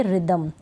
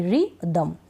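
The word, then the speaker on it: rhythm: sound नहीं आ रहा राइम और इसको पढ़ेंगे रिदम आर वाई से आर वाई रिदम ठीक है राइम और रिदम समझ में आ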